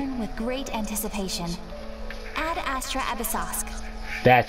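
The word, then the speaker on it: Ad Astra Abyssosque: Ad Astra Abyssosk.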